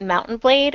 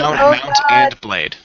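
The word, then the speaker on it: Mount & Blade: say that it's Mount And Blade not Mountain blade which is seriously what I thought you've been saying for like the last day Mount And Blade um don't you don't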